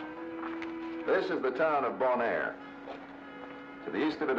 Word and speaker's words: Bonaire: How do you say the name of the town again? Bonaire. You know, bon, good, air, Bonaire.